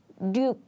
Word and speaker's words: 육: But when this 육 comes in the middle of the word, we often pronounce it like 륙, 륙, 륙.